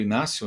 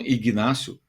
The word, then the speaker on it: Inácio: O Pedro driblou, acho que foi Inácio, né? Que eu não sei por que falam Ignácio. Esse G sempre foi mudo, né? Sempre foi mudo. Aprendi isso na escola. Esse G é mudo, pô.